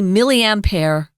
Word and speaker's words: milliampere: And again, it's milliampere. If you're in England, they say milliampere. Really? Closer to, of course, well, they don't pronounce the R. Closer to the French pronunciation.